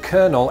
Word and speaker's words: colonel: costume looked very different it was spelled and pronounced Coronel and when English settlers